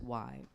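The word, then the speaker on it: Wye: It's pronounced Y.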